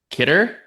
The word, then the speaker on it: Khidr: We've got Ahmed Kder. Is that how you say your last name? KD. That's how you say it.